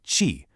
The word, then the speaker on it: qi: And that concept is called chi, pronouncedqi.